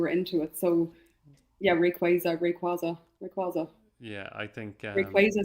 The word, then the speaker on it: Rayquaza: We got a couple of people asking for more pronunciations. Right, someone's asking about Rayquaza or Rayquaza. I've always said Rayquaza.